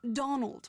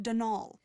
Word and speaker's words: Donal: That was the caretaker, Denol Delaney, not Donald, mind you. There's no D at the end, so it's pronounced Denal.